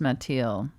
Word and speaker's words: Mathilde: Well, it's similar to, I guess, Matilda, but yeah. but it's pronounced Mathilde. Mathilde. It's French.